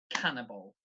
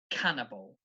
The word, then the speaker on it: cannibal: eats other people so this word the stress is on the first syllable cannibal cannibal okay so stress the first syllable of that three syllables cannibal cannibal then I've got the